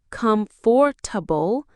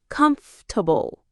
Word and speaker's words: comfortable: We don't say comfortable. The natural way is comfortable.